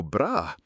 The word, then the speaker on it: bras: Elle porte un beau bras. This sounds an awful lot like she's wearing a beautiful bra in English. But in French, bras, note, no S sound at the end, means arm.